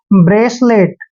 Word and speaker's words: bracelet: देखिए बी का उच्चारण हम बै कर रहे हैं, आर को हमने रे पढ़ना है, ए को ए की मात्रा पढ़ते हैं, और CE का उच्चारण हम हमेशा सह करेंगे, और एल को ले पढ़ना है, ई को ए की मात्रा पढ़ते हैं, और टी का उच्चारण टे करते हैं।